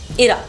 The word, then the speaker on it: इरा: एक नाम है इरा, लेकिन रीना उसको आयरा प्रोनाउंस करना चाहती हैं, तो उन्होंने वो नाम वैसे रखा।